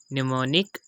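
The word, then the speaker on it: mnemonic: और इसके प्रनंसीएशन होगी थर्ड एग्जांपल निमोनिक और फोर्थ एग्जांपल है नेम सेंड तो इन दोनों एग्जांपल्स में भी आप देख सकते हैं की और से पहले एम ए गया तो यहां पर हमने एम को साइलेंट कर दिया मेंस के ऐसे शब्द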